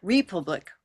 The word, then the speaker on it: republic: Janine, we do have three syllables. We have repub and lick. But notice that it's one stress. It's not republic or republic, but rather republic.